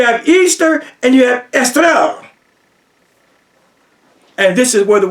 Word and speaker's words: Eostre: It looks like Eostra, but if you want to say it the Germanic way, it's estra. Estra, don't you hear Easter in there? You have Easter and you have estra.